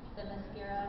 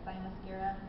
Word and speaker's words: Themyscira: And we were discussing earlier how we pronounce this, and we both kind of Themyscira or Thymyscira. To me, every time I see it, it looks like thigh mascara.